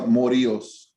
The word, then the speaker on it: Morillos: am your honor okay how do you pronounce your last name because i know i keep pronouncing it different every time i say it no you're fine your honor it's a morios okay i'll try to